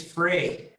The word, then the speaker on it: Frey: thanks for having us and it's free freddy you can pronounce it great yeah okay all